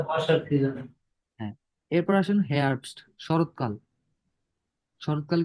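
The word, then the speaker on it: Herbst: এরপর আসেন হেয়ারবস্ট, শরৎকাল। শরৎকাল কি হয়? সেপ্টেম্বর।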